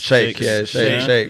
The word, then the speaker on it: sheikhs: Is that true, you pronounce it? Sheikhs. Shake, for real.